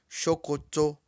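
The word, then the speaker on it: ṣòkòtò: S com marcador embaixo tem som de X. Então, calça em Yorubá pronuncia-se chocoto. Chocoto.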